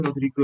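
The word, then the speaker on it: Rodrigues: Nah, kalau kalian mau tahu penurunannya ini, rumus formula Rodrigo ini ya, Rodriguez itu tulisannya Rodriguez tapi bacanya Rodrigo ya.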